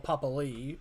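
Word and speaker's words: Papali'i: Papali or Papali, as they're now pronouncing it, because it's now the correct way.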